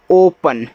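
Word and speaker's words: open: चलिए ओ पी ई एन, इसको पढ़ते हैं ओपन, ऐसे ओ आपका शुरुआत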